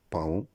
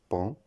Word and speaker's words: paon: La prononciation incorrecte, ce n'est ni paon, ni faon, ni taon. La bonne prononciation, c'est pan, fan, ton.